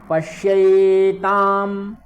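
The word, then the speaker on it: पश्यैताम्: यहाँ पर ध्यान दीजिएगा, पश्यै ये वाली ऐ है, तो इसका उच्चारण भी आपको ध्यान रखना है कि ऐ का उच्चारण किस प्रकार से होता है, वह विशेष ध्यान रखना है। ठीक है, पश्यैताम, पश्यैताम, ता है बड़ा वाला, तो पश्यैताम पांडुपुत्राणाम, यहाँ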